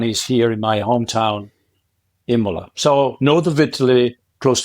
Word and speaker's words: Imola: nearby so I live in a town called Imola it's spelled i m o l a which is